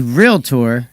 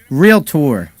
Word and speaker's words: realtor: and i became a realtor taking a class in one of these how do you say real tour it's not really tour uh if you say